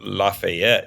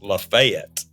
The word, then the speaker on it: Lafayette: the same, like the town that's named for the French general that helped us in the Revolutionary War is not Lafayette, it's Lafayette. And I was just wanting